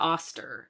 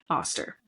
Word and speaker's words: Eostre: The celebration of Lady, we're going to call her Oster. It's spelled Eostre. Oster.